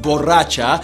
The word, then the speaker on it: borracha: Boraxa, pronounced borracha, is a collab between Feid and his Avengers flow and Manuel Turizo serving vocals.